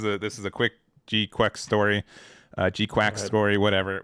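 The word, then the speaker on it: GQuuuuuuX: show it at best it's pron I pronounce it as gukes I think uh when we all went to Bandai Hardfest Orlando.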